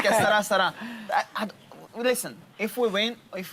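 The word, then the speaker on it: Que sera, sera: Que sarà, sarà. That's how we said, right? That's how you say it. Yeah, that's how you say it. Right. Que sarà, sarà.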